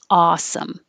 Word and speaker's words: awesome: this came up with is it ah or all and both are fine both are fine i didn't put the symbol here for the backwards c that represents ah with rounded lips it's a tiny difference it doesn't change the meaning it's just different dialects so whatever you prefer same for dollar da